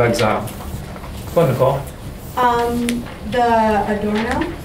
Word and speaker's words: Adorno: The Adorno, is that how you say it?